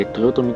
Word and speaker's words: 豊富: 豊富と書いて豊富と読む、大変縁